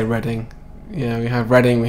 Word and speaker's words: Reading: Reading the place, yeah, that is how you say Reading.